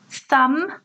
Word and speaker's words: thumb: that W is silent thumb B is silent this is your thumb